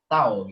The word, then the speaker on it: tau: Nah, ini lambangnya ya, cara bacanya biasanya adalah tau gitu ya. Tau gini ya.